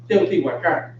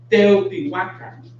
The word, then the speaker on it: Teotihuacan: Often in Mexico, pronounced Teotihuacan, Teotihuacan. But in Nahuatl, it's Teotihuacan.